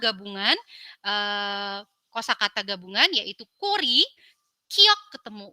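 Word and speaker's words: 꼬리: Kemudian di sini saya memberikan sedikit contoh kosakata daripada 5 gabungan kosakata gabungan yaitu kori, kiok ketemu o, sang kiok ketemu o jadinya ko, real ketemu i jadinya ri.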